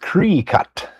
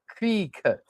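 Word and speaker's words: Krikkit: And Andrew says, it's pronounced Cree-cut. Cree-cut.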